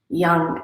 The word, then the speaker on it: Yang: What we're going to do is we're going to chant a mantra, and that mantra is Yang, Y-A-N-G, Yang, and it's pronounced like this.